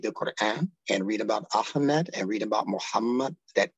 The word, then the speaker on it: Ahmed: his true name is a hmed what is that a h m d all the consonants a is a consonant if you didn't know it's pronounced from the back of the stone ah ah so what is that